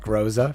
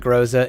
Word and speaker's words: Groza: I know there's a couple different ways to pronounce this weapon's name. I'm just going to go with Groza for right now because that's the easiest for me.